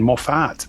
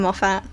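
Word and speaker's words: Moffat: And the other thing people say it's even maf. It's Moffett. Muffet. Moffett, not Maf.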